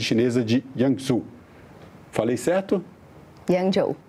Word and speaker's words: Yangzhou: Yangzhou. Yangzhou. É uma pronúncia um pouco difícil.